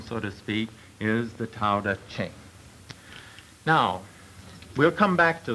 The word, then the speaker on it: Tao Te Ching: It's pronounced Tao Te Ching, if we want it in the Chinese.